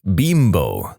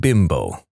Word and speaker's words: Bimbo: Except it never really took off in America because we don't pronounce Bimbo like the Mexican manufacturer does. They pronounce it Bimbo, not Bimbo.